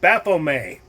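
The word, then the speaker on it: Baphomet: flashing the sign of baffle May yeah the t is silent a lot of people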